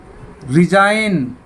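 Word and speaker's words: resign: रिजाइन, रिजाइन, यहाँ भी जी silent है।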